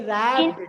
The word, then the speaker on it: wrapped: Wrapped रैप नहीं, रैप्ड, डब्ल्यू is silent letter in here.